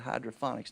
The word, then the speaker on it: hydroponics: You say, well, they got hydroponics now. Hydroponics, not phonics, ponics. Get that right phonetically.